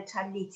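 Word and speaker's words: tallit: viewers know what a talit is. So would you like to explain it for me, please? Yes. So a talit or a talis, there's different ways of pronouncing it, is in English a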